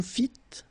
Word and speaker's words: fîtes: Vous fîtes, don't pronounce S.